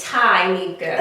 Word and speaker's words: Tyneka: Is it Tyneka or Tyneka? It is Tyneka.